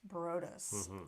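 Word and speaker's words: Bryde's: It looks like bride's whale, but I think it's pronounced Brodus, right?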